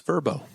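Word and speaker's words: Vrbo: go around here uh let's start with the verbo Fiesta bow in case you don't want to stay in a hotel and you want to stay in someone's rental it's vbo it's verbo it's verbo is it yeah the Tim TBO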